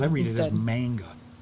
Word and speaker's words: manga: It always comes out manga. Because it's M-A-N-G-A. Think of it as M-O-N-G. Manga.